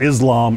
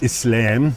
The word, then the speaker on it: Islam: It's not Islam, it's Islam.